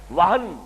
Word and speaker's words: وہن: یہ واو، ہا اور نون ہے، ہمارے ہاں زیادہ لفظ مستعمل وہم ہے، اور میم اور نون میں تلفظ میں ذرا بڑا قریب ہے صوتی انداز سے، تو سمجھ لیجئے وہم نہیں ہے، وہن، وہن سے لفظ توہین، اہانت،